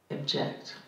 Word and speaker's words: object: So we say object. We don't say object, object. It's object. We would reduce that vowel.